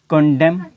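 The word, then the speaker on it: condemn: अब यहाँ पे देखें कि N से पहले जब भी M आएगा तो क्या होगा कि N जो है वो साइलेंट हो जाएगा, उसकी अपनी आवाज़ नहीं होगी।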